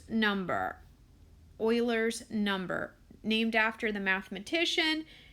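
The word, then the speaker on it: Euler: lowercase e and this little e is called Oilers number Oilers number named after the mathematician that had published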